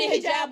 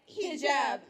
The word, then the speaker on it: hijab: Welcome to Hijab 101. Lesson number 1, basic pronunciation. It's hijab, not hijab. Learn to work your tongue around it. Bend and twist until you get the perfect sound.